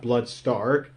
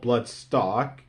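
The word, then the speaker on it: Blood Stalk: When I was watching the show, his name is pronounced Bloodstark, but everywhere else he's called Bloodstock.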